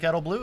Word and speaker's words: Edelblut: Yeah, so it's Edelblut. And the T is silent.